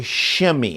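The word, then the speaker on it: Shimei: to Saul and his name is shimmy okay shimmy that's how you would pronounce it shimmy shim shimmy comes out because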